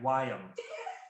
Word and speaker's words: Wyam: All right, Wyam. It's like Wyatt.